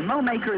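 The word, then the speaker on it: Mowacre: And Mowmaker is spelled M-O-W-A-C-R-E, Mowmaker.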